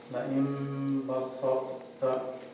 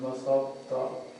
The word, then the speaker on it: بسطت: The ta is not pronounced, right? لئن بسطت. لئن ba sa basarta. لئن بسطت. Because we are merging the ta into the ta, right? لئن بسطت.